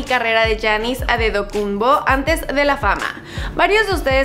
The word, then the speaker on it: Antetokounmpo: Así es que, ¿cómo se pronuncia realmente? Pues escuchémoslo de la boca del mismo Giannis. My name is Giannis Adedokunbo.